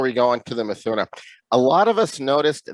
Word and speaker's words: Mithuna: So I notice here with the next one, the Mithuna. Am I pronouncing that correct? Sure. Is it Mithuna? Is that correct? Mithuna.